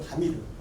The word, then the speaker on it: 파미르: 파미르가 피읍 발음을 못했어요. 박을 팍이라고 하죠. 영어로도. 그러니까 파미르는 바미르죠. 바미르.